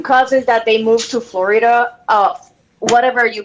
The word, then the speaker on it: Florida: the proper pronunciation well where i'm from we just say florida okay there's two syllables that's it you don't you don't